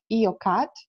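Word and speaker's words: IOCAT: So what I will be talking about will be our current project, which is called EOCAT. It's spelled like I-O-C-A-T.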